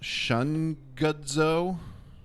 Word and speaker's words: Shungudzo: I don't know how to pronounce it. Shungudzo.